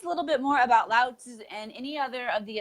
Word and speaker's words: Lao Tzu: I already forgot how to pronounce Lao Tzu's name correctly. Lao Tzu.